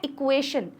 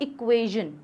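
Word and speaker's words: equation: तो हर एक, जैसे हम एक वर्ड लेते हैं इक्वेशन, हम इसे बोलते हैं इक्वेशन, लेकिन रियलिटी में इसका प्रोनाउंसिएशन होता है इक्वेजन।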